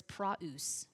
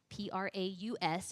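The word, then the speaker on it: πραΰς: The Greek word is praus, P-R-A-U-S, if you want that transliteration or how to spell it, praus.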